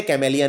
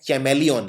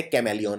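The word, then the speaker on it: chameleon: ये बोलते कैमेलियन है लेकिन सी का एच का उच्चारण नहीं करते हैं। लेकिन फिर भी एक एच आता है यहां पे। तो ये है चैमेलियन। लेकिन चैमेलियन नहीं बोलते बोलते कैमेलियन है।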